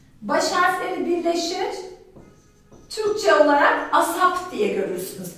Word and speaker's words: ASAP: Asap. As soon, soon yakında, kısa zamanda demektir. As soon as possible, mümkün olduğu kadar kısa zamanda. Hemen, bir an evvel, mümkün olduğunca çabuk anlamında kullanırız. ASAP diye okunur.